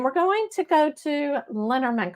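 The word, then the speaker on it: Lenormand: going to go to Lerman cards or lenorman cards as as people pronounce it and with these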